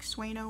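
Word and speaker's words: sueño: um this yarn is now made by the company haiku and it was renamed i think it's pronounced sueno so like swano worsted would be the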